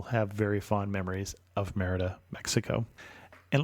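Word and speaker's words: Mérida: very fond memories of Merida, Mexico. And let me try once to say the name of the place correctly with a Spanish pronunciation. It is more correctly Merida.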